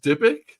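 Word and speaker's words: dybbuk: And she was also the one who raised uh Wexner's demonic uh is it pronounced dibbuk?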